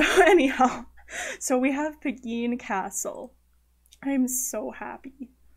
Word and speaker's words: Pegeen: it's an Irish name it's spelled PGE it's pronounced Pegeen and it's like the Irish version of Margaret